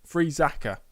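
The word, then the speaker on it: Friesacher: Montero alers and Patrick freaka freaka freaka that's how you say it we are position three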